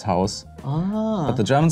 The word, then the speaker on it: Haus: Yeah, that is all actually the same pronunciation and the spelling is different. So it's house, and in German it's Haus.